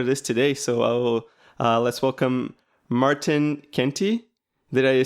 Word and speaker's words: Martijn Kentie: it's perfectly great pronunciation I know that the writing of my name's sometimes asks a lot of questions because there's a Jay in there but but I D I'm